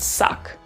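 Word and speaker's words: suq: in first up is s-u-q which is basically pronounced suck and it means a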